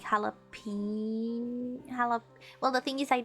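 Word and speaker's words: jalapeño: J pronounced like a H, like jalapeno.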